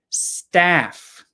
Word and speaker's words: staff: out next word is Staff this has the a sound like bat cat hat Apple staff so first word stuff